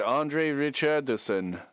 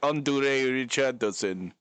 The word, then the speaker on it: Andre Richardson: So, He pronounced Andre Richardson a lot better in this one than he did in the first one. In this one, he said Andre Richardson when in the OG was like Andurusen.